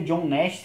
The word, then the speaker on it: John Nash: O filme Uma Mente Brilhante é lá de 2001, isso mesmo, de 2001, onde retrata a Sofia John Nash, é exatamente essa a pronúncia do nome dele, onde fala um pouco